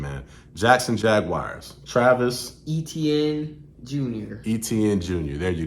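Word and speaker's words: Etienne: I'm gonna have to get your help on this pronunciation man Jackson Jaguars Travis etn Jr etn Jr there you go my man you Travis etn Jr he is number 11.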